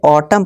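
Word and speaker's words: autumn: यदि किसी वर्ड के अंत में एम एन हो तो एन को हम साइलेंट कर देंगे। कैसे कर देंगे, एग्जाम्पल देखिए। अब देखिए यहाँ से ऑटम पढ़ेंगे, यहाँ एम और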